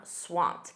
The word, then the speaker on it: swamped: Notice that pronunciation, that ED is a soft T. I'm swamped. And you need the verb to be. It's to be swamped. I am swamped right now.